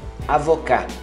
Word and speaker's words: avocat: É avocat. Não pronuncia o T.